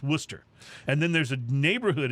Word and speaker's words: Worcester: is spelled like it's warchester w-o-r-c-h-e-s-t-e-r but it's pronounced worcester and then there's a neighborhood in boston called